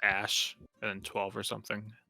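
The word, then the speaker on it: Æ: x i i yeah it's X and a e is pronounced Ash and then 12 or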